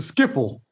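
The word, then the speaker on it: Schiphol: It doesn't look like Skipple, but Well, it's Dutch.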